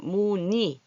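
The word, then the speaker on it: 문의: 문이 할 때 두 번째 오는 글자는 문이. 쓰기는 이렇게 쓰지만 받아쓰기 할 때 이렇게 읽어준다. 발음하기가 편안해요.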